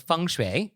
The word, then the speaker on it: feng shui: So if you want to follow the principles of feng shui, then you could certainly do it this way. Yeah, and if you want to pronounce it correctly, listen to the way Nick says it.